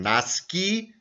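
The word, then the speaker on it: nasci: ist ein deponen also ist Nashi klassisch ausgesprochen naski der formal passive Infinitiv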